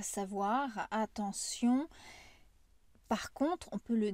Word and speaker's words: attention: je prends le mot attention ici il y a des règles de prononciation le T ça se prononce comme un S le E et le N ça fait le son en ici le Ion on